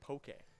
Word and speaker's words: poke: By the way, it is pronounced poke.